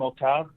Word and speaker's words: Octave: Like the French name Octave.